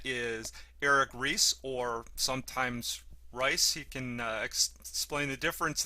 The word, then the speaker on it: Reiss: people the United States couldn't figure out how to pronounce the I before E except after C so he was called Ries and this was not